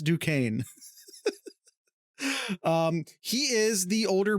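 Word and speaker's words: Duquesne: close enough to Pittsburgh to know that is pronounced Duane um he is the older brother of incoming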